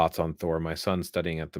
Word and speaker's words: Thor: image of thor so if you take it from the old norse it's thor it's got a rolling r you have the symbol